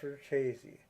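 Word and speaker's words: Richese: I'm not going to mention any names, but it is pronounced Verchese, the way they pronounce it in the show.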